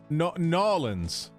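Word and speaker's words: New Orleans: Yeah, they say Nolans, right? Like it's all like one. It's all one sound.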